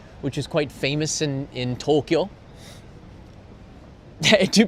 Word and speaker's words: Tokyo: It's Tokyo, not Tokyo じゃなくて Tokyo. 言ってください. Tokyo. Tokyo. Okay. It's no, Jari. To and KYO is 1 syllable.